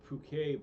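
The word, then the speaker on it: poke: It's pronounced Puke Bowl.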